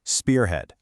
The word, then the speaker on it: spearhead: And I want you to listen closely to how I say it, spearhead. Do you hear where the stress lands? It's right there on the first syllable, spearhead.